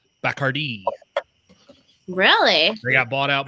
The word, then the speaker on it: Bacardi: So Why does he pronounce it Bacardi? Bacardi was how you originally pronounced that gentleman's name that started distilling rum.